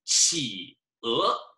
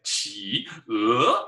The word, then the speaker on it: 企鹅: if you have a third tone and then a second tone, usually we just combine them, pretty much always. 企鹅, 企鹅, instead of saying 企鹅, that's kind of fun to say, 企鹅, but don't say it like that. We can say 企鹅, penguin.